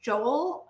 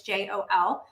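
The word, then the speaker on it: Jól: So yeah, because Yule for them was Joel. I'm not sure if that's exactly how to say it. It's Jol.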